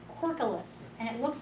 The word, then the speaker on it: Corkulus: I think it's C-O-R-K, like cork, and then U-L-O-U-S, Corkulus.